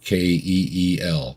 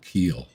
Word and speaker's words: Keel: You want to go check those out, just like it's spelled, Keel, Keel, John Keel.